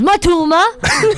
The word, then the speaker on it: Matoma: And Matoma? Matoma? Holy moly! Holy moly. Holy moly! Yeah. He says If that a you lot. ask Matoma how to pronounce Matoma, he goes, Matuma.